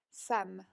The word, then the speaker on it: femme: Femme. Femme. Y en el documental estaba usado en el plural, pero se va a pronunciar igual, solo por escrito agregamos una S.